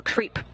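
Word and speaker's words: KREEP: a weird component that we call creep and it's spelled k r e e p and Central potassium Rare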